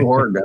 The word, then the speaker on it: Oregon: missouri yeah yeah oregon the easier way is o-r-y-g-u-n if you spell it that way or a gun i gotta do oregon i mean it's just